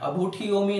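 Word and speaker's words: अब्भुट्ठियोमि: इच्छा कारेण संधि सह भगवन अबुट्ठियोमी में कुछ बच्चे हम मिस्टेक करते हैं, अबुट्ठी नहीं बोलते, अबुट्ठियोमी बोलते हैं। तो ट और ठ का एक साथ में उच्चारण करना है और ब को भी इसमें जोड़ना है।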